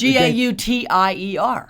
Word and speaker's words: Gauthier: Yeah, it was Gauthier. Right. Gauther.